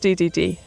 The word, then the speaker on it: Dedede: Now King Dedede pronounced DDD, but spelled Dedede is often the antagonist, but he's quite comical too.